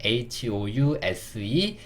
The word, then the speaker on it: house: 이 이라는 글자는 뭐냐면 묵음이라고 합니다. 묵음. 써있긴 써있는데 소리 내지 않아요. 그래서 이까지 기억을 해주셔야 돼요. 그래서 HOUSE 이게 house가 되는 겁니다.